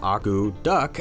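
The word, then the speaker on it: akutaq: The word agoutic, pronounced agou-duck, actually means to stir.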